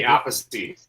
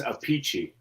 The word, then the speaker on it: Appice: Now, Carmine, there's Appice, and then his brother says his name. He pronounces his name. Vinny Appice. Why Yeah. is Vinny that? Appice. Yeah, why is that? And then they have another brother, and he says Appice.